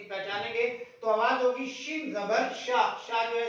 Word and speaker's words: شین: میں اس کا تلفظ شین ہے یعنی کہ شین کا تلفظ عربی زبان میں ہم شین کرتے ہیں.